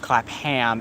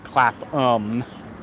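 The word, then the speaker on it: Clapham: it right that time instead of clap ham it's clap um but yeah I do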